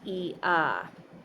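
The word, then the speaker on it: Eadha: It stands for the letter E and is pronounced E spelled E A D H A or E A D H A D H.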